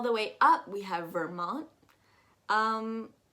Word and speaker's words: Vermont: way up we have vermont um you're not actually going to pronounce that t at all or if you want to you can pronounce it a little bit vermont to the right we